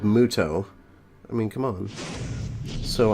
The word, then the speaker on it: Muto: this cave playing Yugi moto you know when the enemy they always pronounce it like moto but it's clearly spelled Muto I mean come on